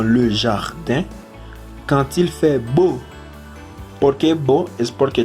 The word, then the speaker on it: beau: Nous jouons dans le jardin quand il fait beau. ¿Por qué beau? Es porque también que la AU y la EAU se pronuncia como O.